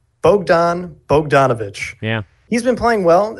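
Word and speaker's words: Bogdan Bogdanović: who's been getting on me about it it's Bogdan Bogdanovich actually pretty much it improperly yeah I gave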